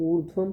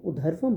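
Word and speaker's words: ऊर्ध्वम्: बहुत से लोग ऊर्ध्वम को उधर्वम बोलते हैं, लेकिन जो प्रॉपर प्रोनाउंसिएशन है, ऊ के बाद जो व के ऊपर र लिखा हुआ है, ऊर्ध्वम गच्छन्ति।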